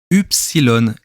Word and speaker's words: ypsilon: chez nos amis hellènes le y se prononcent ypsilon et oui et c'est